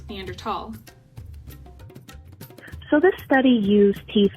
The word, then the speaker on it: Neanderthal: Whoa, it's pronounced Neanderthal, not Neanderthal? Yeah, that's a common misconception many people have. Even though it's spelled with a TH, the name comes from the German language, and the first undisputed